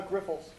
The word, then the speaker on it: Grifols: your name for the record and could you pronounce that is it right or not uh Grifols yes sir so my name is